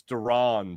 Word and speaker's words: Duran: It's Duran, by the way. Johan Duran. Not Duran, Duran.